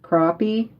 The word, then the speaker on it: crappie: say but uh it's it's spelling looks like crappy but it's um pronounced crappie um and it's a